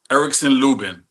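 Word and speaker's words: Erickson Lubin: Lebing Erikson Luben.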